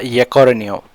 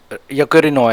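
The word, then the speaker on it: Yaccarino: इसका right answer A है, इस Linda यकोरिनो, यकोरिनो actually, यकोरिनो, but European pronunciation थोड़ा डिफरेंस होता है।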